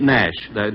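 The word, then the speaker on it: Naish: It's spelled N-A-I-S-H, but I understand they pronounce it Nash.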